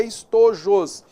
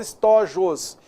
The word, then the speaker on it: estojos: sopros tranquilo colossus estojos olha só a pronúncia adequada é estou josé mas muitas vezes na linguagem coloquial de falar estojos já marca uma palavrinha tem que ficar ligado tá beleza logrou os bolos